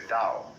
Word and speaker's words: Tao: The way of the Dao that is spelled in English Tao but by Mandarin speakers pronounced approximately Dao.